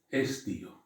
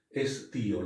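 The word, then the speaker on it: ἐσθίω: Estío. Esta es una Z o una tita, una teta, estío. La podemos pronunciar como una Z o como una T en definitiva, ¿no?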